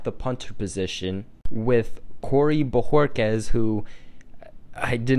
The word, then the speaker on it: Bojorquez: Since 2013, when Allen got the starting job, we will see competition at the punter position with Corey Bojorquez, who I did not know the name of